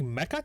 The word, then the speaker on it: Mecha: roll off the tongue i think mecha titan makes more sense my biggest actually i've heard more people pronounce it as mecca titan yeah but it's not so the funny thing about